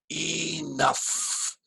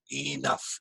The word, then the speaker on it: enough: And notice the pronunciation, enough. It's an F sound right at the end, enough. It says O-U-G-H, but it's pronounced uff, uff, with an F sound, enough.